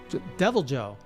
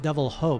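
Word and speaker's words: Deviljho: Devil Joe. Not Devil Ho, by the way. Not pronounced like the Spanish, but Devil Joe.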